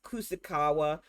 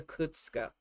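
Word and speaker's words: Kuczka: It says Kusakawa, but they call her Kutska.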